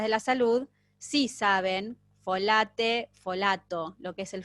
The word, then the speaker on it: folate: folato es transparente pues si yo digo folate no no no hagamos la pronunciación correcta folate se escribe folate folate folato sí la